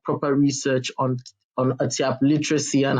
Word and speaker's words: Atyap: In the dialect of the language, it is called Atiap. It's spelled Atyap. Some people spell it Tyap. So it depends. Atiap. That's how it's spelled in the language.